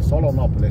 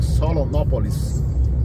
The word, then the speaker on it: Solonópole: Se escreve no singular, não é no plural. Só não confundir. Muitas cidades que falam em ópole são pronunciadas no plural, né? Por exemplo, no Rio tem Petrópolis, Teresópolis, aqui é Solonópole.